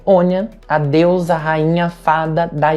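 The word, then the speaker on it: Áine: A principal divindade relacionada a Lita é a Onya, a rainha das fadas da Irlanda, também conhecida como Éine na pronúncia americanizada.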